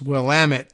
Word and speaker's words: Willamette: the cool rhyme of it's Willamette damn it which does help a